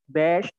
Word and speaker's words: beş: Tadi untuk 3 itu üç, 4, dört, 5, beş. Ingat kalau ada S yang ada ekornya itu dibaca şe, beş.